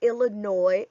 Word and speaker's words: Illinois: Words like Illinois and core end with an s, but the s is silent.